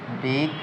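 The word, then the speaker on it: Big O: করে থাকি এটার মাধ্যমে বিগ একটা মার্ক বিগ ও বিগ ওর মাধ্যমে বিগ ও নোটেশন এর মাধ্যমে টাইম কমপ্লেক্সিটি পরিমাপ করা হয় বিগ ও বিগ ওটার উচ্চারণ হচ্ছে বিগো এরপর আসি আমরা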